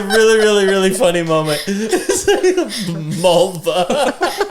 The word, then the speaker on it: Mulva: Mulva. To rhyme with vulva.